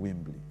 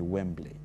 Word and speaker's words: Wembley: ambazo zilifanyika 2021 m nilikuwa natamka uwanja wa Wimbli nilikuwa nasema Wimbli eh akapiga simu akamambia mwambieni msumi sio Wimbli ni Wembley eh inatamkwa vile vile. Eh kama inavyoandikwa.